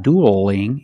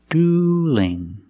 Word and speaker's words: dueling: Now the L in dueling is between vowels. So we have to change that L to a light L. So it's not dueling. It's dueling. Dueling.